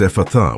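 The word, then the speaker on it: Ephphatha: The word we will work with from this powerful lineage is Ephatha. It is pronounced Ephatha with the emphasis on the last syllable.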